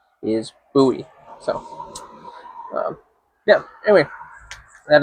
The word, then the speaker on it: Bowie: So that's why it's called the buoy knife. Not to be confused with Bowie because that's David Bowie the musician. Uh but the actual pronunciation of the name is Buoie.